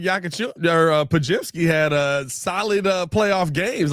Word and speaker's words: Podziemski: DeLon Wright, Brendan Podziemski, yeah. That name I always mispronounce his name. It ruins me every time. Podziemski.